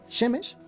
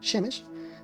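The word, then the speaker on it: שמש: Me faltó decir que Shemesh, que se pronuncia así con con e, digamos, shhemes, eh, pues hay otra palabra que se escribe shamash y se escribe exactamente igual.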